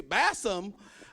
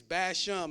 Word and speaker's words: Bassham: Bassham. I was like, yeah. My last name is Bassham, like, you know, bash him in the head.